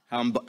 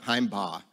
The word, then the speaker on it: Himbaugh: I just learned this weekend, you pronounce it Himbaugh, right? Himbaugh. Himbaugh.